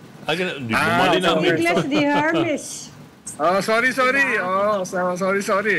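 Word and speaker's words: Hermès: Baka yung Hermes yan doun sa Divisoria. Ganon ba pronunciation? Exact how you pronounce it pag Frances de Herme. Ay hindi the Hermis.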